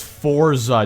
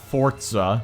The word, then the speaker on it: Forza: out here my guy why do you pronounce Forza with a T it's Forza not Forza then again my sister